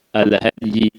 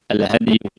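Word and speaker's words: الهدي: Ikhwah yang Allah muliakan, bab baru yang akan kita bahas adalah bab al-hadi. Bab al-hadi, bab tentang hewan hadyu. Jadi bacanya adalah dalnya disukun. Al-hadi, al-hadi.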